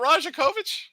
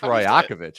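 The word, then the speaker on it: Rajaković: mispronounced name section I it's not rajakovich I think it's rakovich isn't it rakovich oh sorry uh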